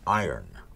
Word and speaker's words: iron: It's iron. You don't pronounce it iron. That's what everybody tells me. It's the Iron Horse. Like Lou Gehrig was the Iron Horse of baseball. Yes. The word I-R-O-N is iron. Iron.